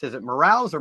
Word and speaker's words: Morales: wonderful couple with us today, Nico and Serenity Morales. Is it Morales or Morales? Am I pronouncing that right?